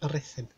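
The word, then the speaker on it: Ruthin: It's pronounced Rhuthyn.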